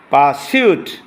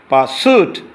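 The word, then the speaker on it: pursuit: পারসিউট এটা British, আর বললে shoot, পারসুট এটা আমেরিকান উচ্চারণ।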